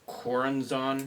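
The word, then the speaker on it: Choronzon: It's Coranzon. Yeah. Coranzon. Yeah, Coranzon. You know it. It's a one CH with a Z in there, and about 3 or 4 syllables.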